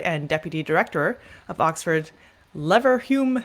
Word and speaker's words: Leverhulme: University of Oxford and deputy director of Oxford Leverhulme, how do you pronounce that? Yeah, I say Leverhulme. Leverhulme, okay, Center for Demographic Studies.